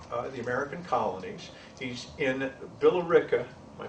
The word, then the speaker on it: Billerica: 1710 comes to the American colonies he's in billerica by pronouncing that Billerica Massachusetts where he marries because in 1723 his wife have a son also Richard Richard jr.